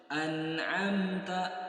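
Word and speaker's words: أنعمت: bertemu dengan ain idhar, maka jangan sampai ditahan an'amta, tapi langsung an'amta, langsung masuk huruf ain. Kemudian kurangnya penekanan pada huruf ain yang sering terjadi kesalahannya. Maka sudah kita jelaskan huruf ain cara pengucapannya harus disertai dengan tekanan. An'amta, amta. Nah, maka tekanannya harus jelas, harus dibedakan dengan huruf hamzah.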